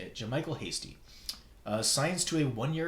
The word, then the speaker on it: Jamichael: The 49ers running back Jamichael Hasty. That's how you say it. Jamichael Hasty.